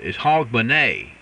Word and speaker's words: Hogmanay: you said it pretty good it's a the pronunciation is Hogmanay and you did real good on that rich